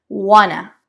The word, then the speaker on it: wanna: El personaje reduce esa pronunciación. Suena wanna.